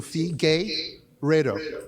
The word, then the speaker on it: Figueiredo: Well, it's Fee Gay, and I know you're a very big LGBT supporter, so Fee Gay Redo.